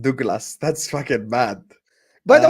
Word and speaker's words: Douglas: I fully put it on the thing and it's pronounced Douglas.